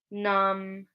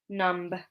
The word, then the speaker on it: numb: We've got climb, numb, thumb. So we don't say climb, numb, thumb. Okay, we just pronounce it like an M at the end. B is silent.